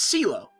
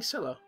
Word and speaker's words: Celo: It's Celo. It's Celo. Why was I saying Cello? Was I saying Cello before, too? Yeah, it's Celo. The correct pronunciation of her new name is Celo, not Cello.